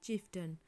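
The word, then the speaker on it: chieftain: अब इसके अलावा थोड़े से शब्दों में ए आई का उच्चारण अ होता है, ठीक है। जैसे कि फाउंटेन, ठीक है। जैसे कि विलन, ठीक है। जैसे कि चिफ्टन, ठीक है। इसमें ए आई को आ पढ़ा गया है, ठीक है।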